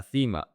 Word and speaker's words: cima: In Spain, that C is pronounced F, TH. La cima.